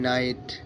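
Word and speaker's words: night: আই জি এইচটি ফাইট এন আই জি এইচটি নাইট guys খুব সহজ খুব beginner প্রচুর ভালো হবে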